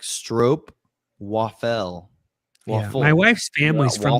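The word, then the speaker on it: stroopwafel: It rhymes with rope. Yeah, best ball saw. I thought it was yeah. It's actually like strope waffle.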